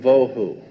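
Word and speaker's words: וָבֹהוּ: The two Hebrew words that are being translated there is tohu and vohu. Pronunciation, it would be T-O-E-W-H-O, tohu.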